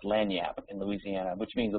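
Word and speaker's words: lagniappe: p earlier in the chat window which is pronounced lanap in Louisiana which means a little a little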